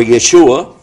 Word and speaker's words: Yeshua: His name in Hebrew is pronounced Isha or Yeshua, and it's Isa in Arabic. And the reason for that is because the difference between Hebrew and Arabic on this point is Sin and Shin are reversed.